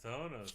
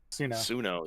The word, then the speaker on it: Suno: Sonos, huh? Suno, yeah. Suno. Sorry, I always pronounce everything wrong.